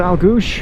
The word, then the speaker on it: Aultguish: couple of hours to elgu SH how she pronounced it that was the last